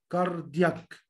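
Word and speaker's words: cardiac: نفس الحروف الجي والسي تتنطق هارد ساوند لو ما كانش فيه الحروف دي في الجملة خالص من أساسه اللي هو الحرف الاي او الاي او الواي. فمثلا هنا بقول كا كا كاردياك يعني قلبي.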